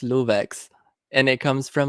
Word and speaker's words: LooveX: I guess one thing I can say is that my name is actually pronounced LooveX, and it comes from like my real name, which is Luve.